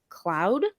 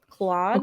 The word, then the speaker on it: Claude: So I think it's CLAUDE, Cloud, Okay. Claude, however you want to say it.